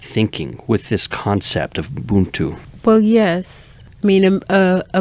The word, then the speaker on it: Ubuntu: Am I pronouncing this correctly? Ubuntu? Ubuntu, mm-hmm.